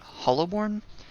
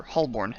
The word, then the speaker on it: Holborn: a decade um but they pronounced holborn hollowborn and so it wasn't until relatively recently that i realized it was actually hollow or holborn and not hollow born techsmith 13.